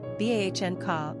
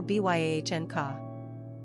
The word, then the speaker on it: Bianca: Pronunciation, Bahn-ka or Byahn-ka. Simple meaning, white, fair, pure.